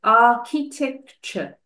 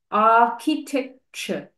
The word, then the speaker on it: architecture: Remember to pronounce this word as architecture. Architecture. The C and the H are pronounced as K. Architecture.